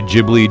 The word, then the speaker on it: Ghibli: Personally, I say Ghibli just because that's how they pronounce it in Japanese.